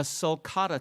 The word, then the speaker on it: sulcata: So let's chat about, a sulcata tortoise. Did I pronounce that right?